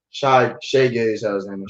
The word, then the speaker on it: Shai Gilgeous-Alexander: So Shai Gilgeous-Alexander, did I pronounce that right? Shai Gilgeous-Alexander.